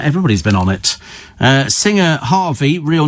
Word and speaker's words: HRVY: But it's Harvey, but in fact it's spelt HRVY.